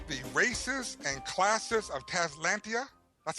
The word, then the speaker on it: Talislanta: so people look it up so it is talislanta I say tantia but I don't know why t t talislanta